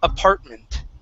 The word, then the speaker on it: apartment: The first one is apartment. Try that, apartment. Apartment. Okay, now, with that A-R, okay, this is, you're going to start off with an ah sound, okay?